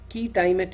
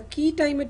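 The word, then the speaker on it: quia timet: Now, even among injunctions and ex parte injunctions, there is something called a key timet injunction. It's spelled as QUIA space TIMET. A key timet injunction is where no real damage has occurred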